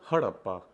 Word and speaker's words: Harappa: but that's okay you're just programmed not to pronounce anything correctly it's called harappa harappa was the first city-based civilization established almost